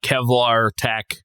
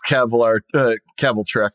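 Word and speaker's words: Kvelertak: So yeah, I don't know enough about Kevlar Tack. That is not how it is, but interesting. I've always pronounced it as Keveltrek, but yeah.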